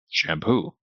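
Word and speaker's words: champô: It turns out you just say shampoo. Shampoo. But we just did the whole article on the way the different letters sound. It's an sh sound at the beginning of a word. So, it's not an S.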